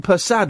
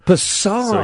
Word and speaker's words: Persad: Now, Nathan, I think I've been saying persad wrong. It's okay. I'm used to it. What? Give me the correct saying. Um, it's from Trinidad. It's pronounced pad. Passard.